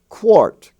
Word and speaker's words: quart: warm but there is a word warm but it's spelled w-a-r-m etc and and also quart q-u-a-r-t it's not quart it's quart and also